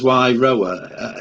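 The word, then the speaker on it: Wairoa: That's how you pronounce it, Wairoe. As Wairoe.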